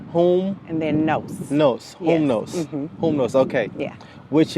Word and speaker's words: Humnos: let you do it it's whom no whom no yeah so think like Loom like Fruit of the Loom Fruit of the Loom so whom whom and then no no whom no whom know okay yeah